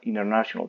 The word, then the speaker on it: international: Ahora, si te das cuenta, yo quité, yo pronuncié acá international, es porque quito la n la t y se vuelve muda y va a sonar international. Puedes decir international low. Las dos están correctas.